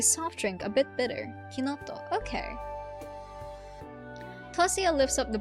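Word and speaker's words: Chinotto: That's how it's that's pronounced kinto. It's citrusbased soft drink. A bit bitter. Kinoto.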